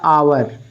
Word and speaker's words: hour: इसको पढ़ा जाता है आवर, इसको पढ़ा जाता है आवर, हावर नहीं, आवर पढ़ा जाता है, एच साइलेंट होता है।